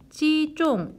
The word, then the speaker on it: 击中: 그 다음에 击中要害 해서 이때 中은 사성 발음하셔야 돼요.